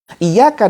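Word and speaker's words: إِيَّاكَ: mengkhusyukkan diri ketika membaca iyyaka na'budu wa iyyaka nasta'in. Bukan berarti harus diputus ya. Iyyaka na'budu wa iyyaka nasta'in. Nah, ini bacanya juga benar ya, jangan iyyaka. Iyyaka, itu ya, ada tasydid.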